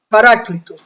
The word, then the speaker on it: paráclito: dejaré solo enviaré eh a los paráclito Esa es la pronunciación correcta a los a los